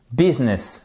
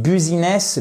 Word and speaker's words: business: comme un i cour business le U est prononcé comme un i cour donc en fait on